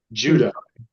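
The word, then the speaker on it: Jodeh: Then we will have state senators Matt Ball and Iman is it Jodai? I never know how to someone help me with pronunciation. Jody, Judah, Judah, Judah, it says you.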